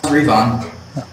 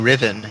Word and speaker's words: Revon: And yeah, that's how you pronounce Revon. I was wondering that. I was saying Riven the whole time.